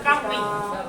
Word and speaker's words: churning: Churning. Benar bacanya churning. Carning. Yang benar itu adalah carning.